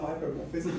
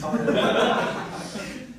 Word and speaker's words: hylomorphism: It's not hypermorphism, it's hylomorphism.